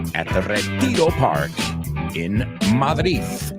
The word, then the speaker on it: Madrid: At the Retiro Park in Madrid. I'm just joking. Madrid. I don't say it like that. Madrid. Oh, I say Madrid a lo guiri.